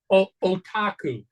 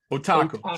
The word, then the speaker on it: Otaku: Is that how you pronounce that? Otaku. Otaku.